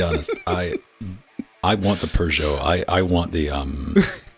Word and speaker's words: Peugeot: Peugeot yes Persia Pedro not not hugeot like the Pokemon it's Peugeot I've heard that pronunciation